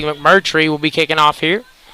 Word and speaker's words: McMurtry: so here we go Reed McCurry finally got his name right to me about five times to say it correctly McMurtry will be kicking off